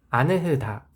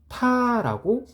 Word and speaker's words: 않다: 아느흐다, 좀 이상하죠? 아느흐다가 아니라 안타라고 발음합니다.